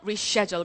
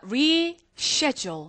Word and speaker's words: reschedule: Reschedule, 그쵸? 우리 일단 요 단어 좀 한번 적어보도록 할게요. 자, reschedule, 그쵸? 아, 근데 이게 우리가 항상 미국식으로 발음하면 reschedule이야. 하지만 이게 영국식으로 나오면 따라하십니다. Reschedule. Reschedule.